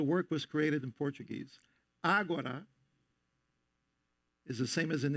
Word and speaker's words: Agora: The title of the work is Agora, with the accent on the first syllable.